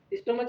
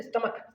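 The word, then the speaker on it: stomach: स्टोमच नहीं है, इसका प्रोनाउंसिएशन है स्टमक।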